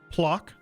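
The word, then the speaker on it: Płock: down this province here this province here is pronounced plock that's how you pronounce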